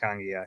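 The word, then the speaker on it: Togiai: I like the fact that Noah Tangiai, and I think now that he's playing, I kind of have to pronounce his name correctly. Tangiai.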